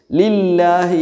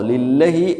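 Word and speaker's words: لِلَّهِ: ലില്ലഹി എന്നല്ല വായിക്കുക, ലില്ലാഹി എന്നാണ്.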